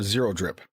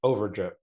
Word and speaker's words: Overdrip: It's more Zero Drip. Zero drip. It is Overdrip. The zero is pronounced like an O, just for the record. It's a new age zero.